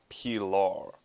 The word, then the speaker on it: Pilar: about the cricket Pilar looks like pillar it was made by a Denmark e'en a Danish there we go a Dane so we pronounce it P law this little buddy has